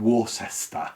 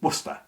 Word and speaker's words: Worcester: Most of our American cousins will look at it and think it's Worcester. And originally that's how it would have been pronounced, but through the unusual contraction that English does over time with everything, it became, instead of saying Worcester, it became Worcester.